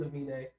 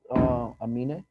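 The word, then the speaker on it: Aminé: I think it's supposed to look like anime because But he switched the M and the N. Yes. Gotcha. So it is Amine of Caroline fame.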